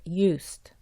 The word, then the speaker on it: used: Esta palabra se pronuncia used. Es importante recordar no juntar los dientes.